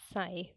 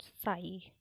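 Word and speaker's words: sigh: This pronunciation is साय, वी कैन not pronounce साई।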